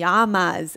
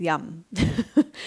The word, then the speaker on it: Yama: And that means the yamas, as most of you know it as, but the correct pronunciation of yamas is yum.